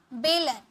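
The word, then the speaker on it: bowl: कटोरी यानी कि बोल, इसे बाउल नहीं पढ़िएगा, बोल, खेलने वाला बोल होता है ना, वो वाला बोल, ठीक है।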